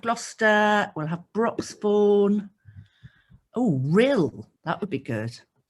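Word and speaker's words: Rhyl: Oh, Rill, that would be good. Rill, how do I spell that?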